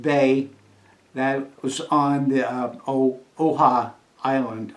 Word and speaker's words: Oahu: I'll spell that because my pronunciation may be off. Kancoha. Kaneohe Bay, that was on the Oahu Island. Oahu.